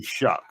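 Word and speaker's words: Shough: How I think it's I think it is Shock. I think it's shock. It's It's spelled Shia to me. I can't but they call they say Shuck.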